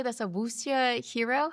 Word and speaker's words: 武侠: I don't know how to say this, a wuxia hero?